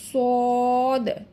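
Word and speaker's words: ص: এবং মোটা হরফগুলা কিন্তু একটু গাল ভরে উচ্চারণ করতে হয়। সদ, সদ।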